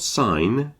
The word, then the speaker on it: sign: a pronunciation thing but we've got sign and Signal you notice the G is pronounced in signal but not in sign the difference I think